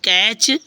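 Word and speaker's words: catch: मैच या देखो टी सी एच में टी साइलेंट हुआ कि नहीं हुआ हो गया ना जैसे सी एटी सी एच कैच ठीक है ठीक है ओके फ्रेंड्स इस तरह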